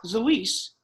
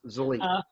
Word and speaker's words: Zilis: It's pronounced Zilis. Zilis.